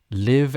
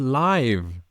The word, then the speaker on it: live: read red red mm live and live this confuses my my students a lot live and live spelled the same I to live and stay alive it's not the same word I know but